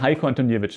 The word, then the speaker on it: Heiko Antoniewicz: Herzlich willkommen, Heiko Antoniewicz. Ja, freue mich sehr. Richtig ausgesprochen? Ja, genau richtig.